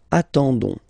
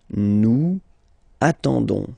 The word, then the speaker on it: attendons: You don't pronounce the S, so you get only this on sound, okay? Attendons, nous attendons, so we'll make the link between the two, la liaison. Nous attendons, nous attendons.